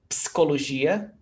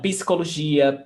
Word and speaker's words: psicologia: And you see that we don't pronounce psicologia, because we must have a vowel sound, PC. So imagine there is a E sound here, psicologia.